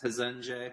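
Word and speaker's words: Resende: four hundred thousand people it's called regende brazil or pronounce hezenje my wife would be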